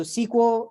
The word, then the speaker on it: SQL: SQL versus nosql databases so SQL pronounce SQL you can also say SQL stands for structured query